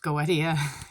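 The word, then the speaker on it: Goetia: uh in the RS goesa uh I've also heard that pronounced Goa Goa I think it's go I think it's Goa whatever uh feel free to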